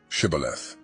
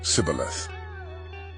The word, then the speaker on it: shibboleth: The Gileadites seized the Jordan River crossings and used a test word, shibboleth, to catch fleeing Ephraimites, who mispronounced it as Sibboleth.